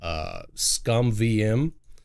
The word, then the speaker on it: ScummVM: This is actually called ScumVM. I think it's spelled with 2 M's, SCUMMVM.